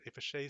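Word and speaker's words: Fichet: a facet seven uh fishe people tell me the uh t is silent if a shay 787 both halves of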